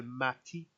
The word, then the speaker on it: Matip: It's Joel Matip with the what you call it, the P kind of at a higher pitch.